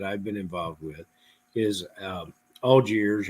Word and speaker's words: Allgaier: been involved with is Algiers or Allgaier, depending on how you pronounce it. The correct one is Algiers, right? I think it's Algier. We have a business that advertises in Louisville, Kentucky, spelled the same way. Allgaier. They advertise every 15 minutes, so we don't know how to pronounce it.